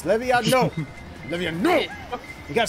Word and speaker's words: Leviosa: It's Leviosa. Okay, shut up. Leviosa. Leviosa sucked my dick. Leviosa, no. Blue shell. No, Feather, it's Levio. It's Levinosa.